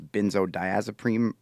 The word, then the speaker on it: benzodiazepine: quit those too abruptly, any I think it's benzodiazepine is how you say it.